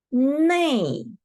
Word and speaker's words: 那: And we can combine 那 and E to 内. We can pronounce 内种笔.